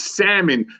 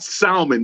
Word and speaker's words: salmon: when i go and it's salmon not salmon the l is silent and i hung up